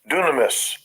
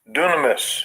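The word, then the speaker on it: δύναμις: power here okay G 1411 I let Esau pronounce it here Strong's Gene 1411 dunamis dunamis dunamis right it says strength power ability inherent power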